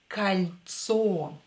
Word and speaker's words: кольцо: This O will be pronounced as A because it's not stressed. So it will be кольцо.